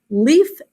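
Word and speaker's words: Leif: next a man called leaf eriksen well that sounds kind of strange it sounds like leaf on a tree um but it's spelled differently that is his name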